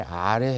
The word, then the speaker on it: Р: 18번은 피자 같이 생겼는데 P가 아니고 영어의 R에 해당되는 글자예요. 그래서 이 알파비트의 명칭은 R, 그 다음에 소리는 R 이렇게 납니다. 영어의 R이 자음도 아니고 모음도 아닌